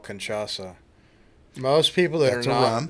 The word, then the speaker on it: cachaça: If I'm pronouncing the alcohol right, it's called cachaça.